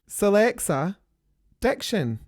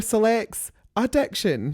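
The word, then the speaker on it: Sillexa Diction: Selea diction. Rupaul keeps calling her select addiction.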